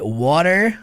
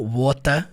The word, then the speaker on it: water: Water americano, wat britânico. É a palavra água, né? Water americano. Wota é o britânico. Qual que é o certo? Não tem certo, a questão de sotaque.